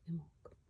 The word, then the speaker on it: Imbolc: She says you pronounce it Imbolc. I did not know that. So Imbolc.